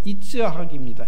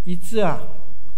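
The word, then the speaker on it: יצחק: 네, 이삭의 그 히브리어 발음이 이츠학입니다. 이츠학. 비슷하죠? 아브라함의 히브리어는 뭘까요? 아브라함입니다. 야곱은요? 야곱. 지금 하고 계세요, 여러분들이. 이츠학, 웃음이라는 뜻이에요.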